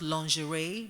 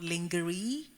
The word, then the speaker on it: lingerie: So lingerie is actually pronounced lingerie, not lingerie. So there's certain words that we need to, and they're words that we misuse.